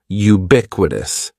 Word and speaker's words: ubiquitous: The first word is ubiquitous. And ubiquitous has four syllables. That first syllable is just like you're saying the letter u. Ubiquitous. And the stress is going to be on that second syllable.